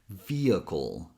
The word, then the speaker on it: vehicle: This syllable is co. You can imagine you're adding awat sound between K and L or that you're simply skipping the vowel. And that's the whole word. Vehicle.